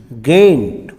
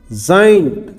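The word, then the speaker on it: giant: और जी के बाद आई आ जाए GIENT गेंट, जेंट, गेंट नहीं बोलेंगे, क्या बोलेंगे इसको? जाइंट, जाइंट।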